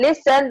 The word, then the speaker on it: listen: design there is no G sound so G is silent in listen there is no TT sound if we pronounce